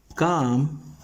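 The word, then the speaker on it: calm: करना अकाम टेंपर आ काम टेंपर एक शांत स्वभाव काम का मतलब है शांत टेंपर का मतलब स्वभाव ध्यान दीजिएगा यहां पर एल साइलेंट है अगले कुछ महीनों में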